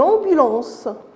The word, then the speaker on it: ambulance: Toujours, pour découvrir AM qui se lit en, une ambulance. Ambulance. Alors, ça se prononce de la même façon que en. AM, ça se prononce en, et AN aussi, ça se prononce en.